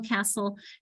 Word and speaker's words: castle: Usually the sol, castle has an STLE, that silent T.